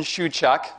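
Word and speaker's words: Shewchuk: I'm Shuak. My last name is pronounced shuak.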